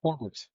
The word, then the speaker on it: Horwitz: Well, it's just a natural kind of R into a W, like you naturally put an O in there, but not a pronounced. But he doesn't have the O. Like that. Right. No, I get it. But I think it's just like, even when we say Horwitz, like the rolling the R into the W, there's sort of this bit of an O sound. But it's not a pronounced O sound.